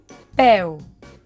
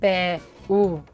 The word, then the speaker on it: peu: Peu. No diem pe-u, diem peu. Estan en la mateixa síl·laba.